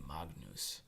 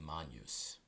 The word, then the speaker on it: magnus: an S lastly there's the GN combination sounds like the NY in Canyon so we don't say Magnus we say Mon use you will get the